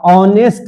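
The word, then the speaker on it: honest: ये भी एच ए से शुरू हुआ है। इसका उच्चारण किए तो ये ह से हो गया। और इसका उच्चारण है तो औ हो गया।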